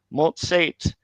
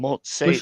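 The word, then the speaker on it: מֹצֵאת: Motsate. The aleph Mhm. has no vowel, right? So it's just going to be silent. We Motsate.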